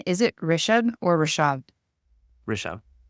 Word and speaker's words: Rishabh: Rishabh. Rishabh.